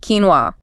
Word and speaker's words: quinoa: Quinoa, pronounced quinoa. Quinoa. Yes, that spelling versus pronunciation is completely counterintuitive. If you haven't encountered it before, Q U I N O A looks nothing like quinoa.